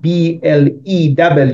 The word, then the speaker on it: blew: But then we have blew, the same as blue. There is no difference in pronunciation, but that blew means that's the past tense of blow.